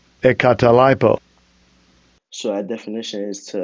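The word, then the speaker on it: ἐγκαταλείπω: So here I'll get the pronunciation. Strong's G 1459. Ekatalipo. Ekatalipo.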